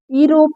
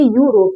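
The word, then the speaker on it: Europe: पढ़ेंगे simply you देखिए जैसे यहां पर यूरोप ई रोप नहीं कहेंगे यूरोप कहेंगे यू पूरा वाई अगर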